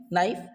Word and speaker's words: knife: तो के का एक बहुत ही सिंपल लॉजिक है फ्रेंड्स कि किसी भी वर्ड के स्टार्टिंग में, बिगिनिंग में यदि आपको के एन का कॉम्बिनेशन मिल जाए, किसका कॉम्बिनेशन? के और एन का, तो हमें सिंपली किसको साइलेंट कर देना है? के को।